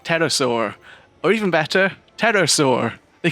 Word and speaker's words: pterosaur: calling it something like pterosaur or even better pterosaur they could even have a tagline about having a silent P from fear when you ride it jokes aside this